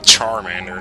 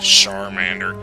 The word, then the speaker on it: Charmander: I'm pretty sure it's actually Charmander, not Charmander. Like, what is this, a shampoo commercial?